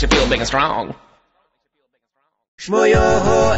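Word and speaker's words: Schmoyoho: Shmoyoho, accent on the yo.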